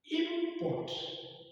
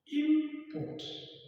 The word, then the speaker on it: import: Let's say we want to pronounce import, import, import, import. You observe that our stress lies where the second syllable, which is what? Port.